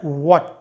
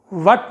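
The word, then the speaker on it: what: ये है व्हाट, वट नहीं। आमतौर पे पीपल और स्टूडेंट्स इसको प्रोनाउंस करते हैं वट, वट, वट नहीं, ये व्हाट है, व्हाट, ये व और ये व।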